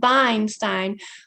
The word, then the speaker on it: Weinstein: I'm Professor Weinstein, actually pronounced Weinstein, but you can call me.